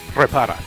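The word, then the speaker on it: Reparaz: Say it again? Repara. Repara. Repara. Repara. You have to roll the R.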